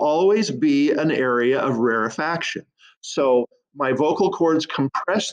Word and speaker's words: rarefaction: first followed by rarefaction it's sometimes pronounced rarefication but really the proper pronunciation for this phenomenon is rarefaction okay now gotta clear